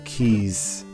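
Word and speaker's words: Keese: which are called the keys or kisses keys with they're spelled like Reese's but with a K instead of an R but um this is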